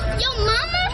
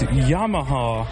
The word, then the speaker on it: Yamaha: how to pronounce it this y mama is that what it says no it's Yamaha it looks like y